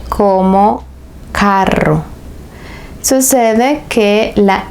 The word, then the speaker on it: carro: Pero si la ves duplicada, el sonido es fuerte. Entonces tendrías la palabra carro. Caro is expensive. Caro means expensive, mientras que carro means car.